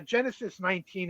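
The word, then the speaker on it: Genesis XIX: uh yeah it's uh Genesis 19 is how you say that album by the way it's not Genesis it's Roman numerals for 19 I I just like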